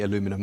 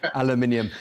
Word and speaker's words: aluminium: pronounce the word aluminium you say aluminum we say aluminium thank you very much